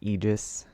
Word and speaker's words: Aegis: so I think the Aegis torch or um what is it called egis that's how you pronounce it the egis torch drops